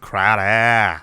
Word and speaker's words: Crowder: Nelson let's talk a little bit about Jameson Crowder mmm it's pronounced crowd ah ah yes three-year - honey eight and a